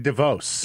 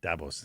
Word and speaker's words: Davos: away from me in Devos? In the Swiss Alps. Is that how they pronounce it? Yeah. Yeah. Davos.